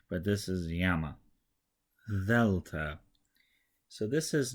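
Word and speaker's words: γάμμα: Now the G sound is a little bit softer than it is in English, so yama is kind of between the G in go and the Y in yellow.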